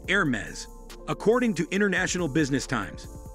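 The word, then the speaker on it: Hermès: Therefore, when you pronounce Hermes, you sure to go as French as you possibly can. The correct pronunciation is Air-mez, according to International Business times.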